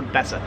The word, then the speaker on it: Besser: they are besser block it's spelled better but they kind of pronounce the bessa that's the blocks 23